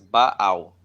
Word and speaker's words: Baal: And the pronouns of Baal here is Baal.